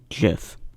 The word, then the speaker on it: GIF: defeat its purpose but the way I pronounce it is with a soft G GIF you can pause and